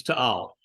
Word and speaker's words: Taal: And it's TAAL is the correct pronunciation of it.